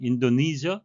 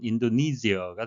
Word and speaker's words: Indonesia: earlier this year 올해 앞서 인도네시아 영어식 발음은 인도니저 또는 인도네시어가 되겠습니다.